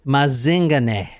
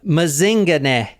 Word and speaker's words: Mazingane: paying attention I yeah mazing and that is how you say it too cuz I actually heard heard someone in South Africa say it oh like Lazarus mazing that is him right here this